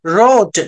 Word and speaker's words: wrote: whenever we find a word starting with the WR, W must be a silent letter.